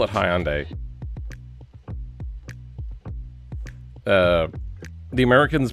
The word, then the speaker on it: Hyundai: so weird and funny, but we call it Hyandai. Uh, the Americans pronounce it either Hyundai, Hyundai, or Hyundai.